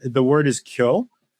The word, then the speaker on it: Kyo: The word is Kyo.